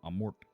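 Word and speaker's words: Amorth: Father Amort, right? Uh that's how you say it in Rome. Amort. Oh, like Amore.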